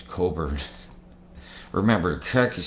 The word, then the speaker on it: Cockburn: Oh, I'm sorry, the cock is silent in cockburn. It's Coburn.